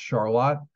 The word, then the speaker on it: Charlotte: it's Charlotte North Carolina but in Rochester it's pronounced Charlotte um I went to school at the University